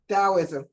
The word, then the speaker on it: Taoism: This third one, how do I pronounce that? Taoism? Taoism. Mhm. Taoism.